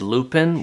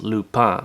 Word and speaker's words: Lupin: to pronouncing it as lupin which is a flower that we have here in my home province of prince edward island whereas in france it's actually pronounced lupa so apologies if that